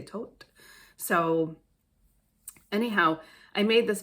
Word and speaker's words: Thoth: And I believe that's how you say his name because of my past life. I think people say Thoth now, but I say Tote.